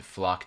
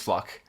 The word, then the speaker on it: Floch: I think it's Flock. Flock.